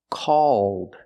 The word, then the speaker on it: called: words called and cold the first word is the a sound a a called and the second word is the o sound plus the dark L cold again the first